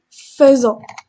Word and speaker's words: faisons: Faire, je fais, tu fais, il fait, nous faisons, faisons, j'écris faisons, mais on prononce faisons.